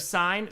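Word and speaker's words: sine: Pronounced it sin instead of sign.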